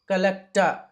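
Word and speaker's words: collector: ఇలా వచ్చిన సందర్భంలో చాలాసార్లు ఆర్ ని మనము సైలెంట్ చేసి అ గా పలకాలి బ్రద సిస్ట మినిస్ట కలెక్ట నావిగేట డస్ట డస్టర్ డస్టర్ అంటారు డస్ట రైట్ సిఏ అ ఖ బిఏ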